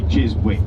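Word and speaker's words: Chiswick: Uh, so surely to anybody that should be jizz wick.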